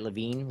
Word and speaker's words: Levine: Did I say it right? Levine? It's Levine. You had it right the first time.